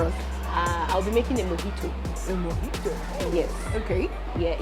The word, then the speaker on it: mojito: So guys, I'm just about to have a mojito. It's spelled mojito, but the J is pronounced As a H.